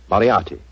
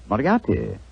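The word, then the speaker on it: Moriarty: mispronounce it I'm afraid I'll have to begin calling it the way it looks m o r i a r t y mariati mariati I shall remember that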